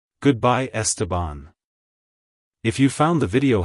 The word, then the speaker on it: Esteban: the DS and bond syllables and the is pronounced like the in say like Hello estabon Goodbye estabon if you found the video helpful hit the